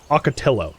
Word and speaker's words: ocotillo: Ocotillo, that's what it's called.